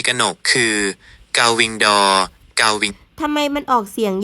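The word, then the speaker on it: gull-wing door: ที่ ถูก ต้อง สำหรับ ประตู ปี กนก คือ เกาวิงดอ เกาวิง ทำไม มัน ออก เสียง ยาก จัง เลย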